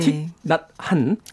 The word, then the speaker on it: 틱낫한: 틱낫한. 예전에 이거 틱낙한이라고 자꾸 발음을 잘못했는데 맞아요. 틱낫한입니다.